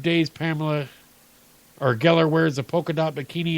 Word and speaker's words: Geller: Pamela Geller rhymes with Penn and Teller, making fun of our beards and ankle plants.